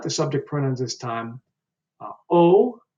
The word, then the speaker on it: ho: You might have noticed that I'm not pronouncing the H when it's at the beginning of the word. And so the H is essentially dropped when we pronounce it at the beginning of the words.